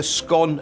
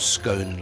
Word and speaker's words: scone: on your scone and remember scone like gone not scone like home anyway in cor they